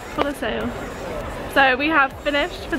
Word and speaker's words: Colosseo: And Colosseum? Colosseo. Colosseo.